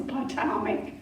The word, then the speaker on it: Potomac: So, if George Washington were alive today, why couldn't he throw a silver dollar across the Potomac?